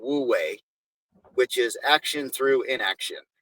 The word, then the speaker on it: Wu Wei: And there's there's actually a Chinese philosophy that I probably will not say it pronounce it correctly called Wu Wei, which is action through inaction or the decision not to take an action and accept the outcome based on that.